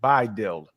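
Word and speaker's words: BiDil: y'all can to stud by dild how how did you spell it B uh you would actually spell it b i d i l would you pronounce it by okay thank you go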